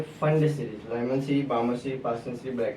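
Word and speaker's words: Pfund: P silent होता है। लिखने में पी फंड लिखते हैं। लेकिन इसे प्रोनाउंस किए करते हैं फंड सीरीज। एक और है हमरी सीरीज।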